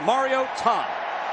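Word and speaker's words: Mariota: So Marcus Mar-I-o-tah, and that is how you pronounce the name, because mom called from Hawaii, Matt, and said, listen up, folks, it's Mar-I-o-tah. Put a hyphen between that Mario and Tom.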